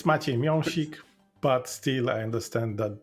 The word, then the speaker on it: Miąsik: that well said yeah it's close enough it's maik but still I understand that this is difficult to pronounce okay I take the close enough I